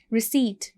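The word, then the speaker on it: receipt: जैसे कि first word is रिसीट. रिसीट में हमारे पास पी इज़ साइलेंट.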